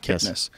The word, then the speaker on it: Kipnis: Kipnness. Laura Kipniss.